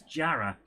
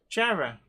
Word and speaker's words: Jarrow: Being able to pronounce Jarrah. Jarrah. Jarra is how it's pronounced. But the other one is Ponteland. Yeah, but Jarrah is spelt Jarrow. And the only people that call it Jarrow are posh gits.